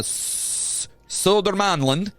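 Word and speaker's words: Södermanland: was Prince Carl of oh my God uh sodermanland that's what I said dude manlin I said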